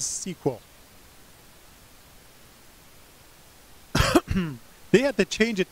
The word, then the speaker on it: SQL: created by IBM yay and originally called its sequel structured English query language thus the stupid pronunciation of sequel today as sequel they had to change